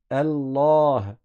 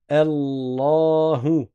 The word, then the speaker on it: Allah: fatigue dans ce cas-là Allah et leif ici on le prononce pas parce qu'on fait la liaison c'est un alif de liaison à chaque fois que